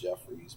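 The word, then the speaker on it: Haywood Jeffires: Man, he really relied on Haywood Jeffries, whose name is actually spelled wrong on here. Still pronounced Jeffries, but the I and the R should be switched. Jeff looks like Jeffires.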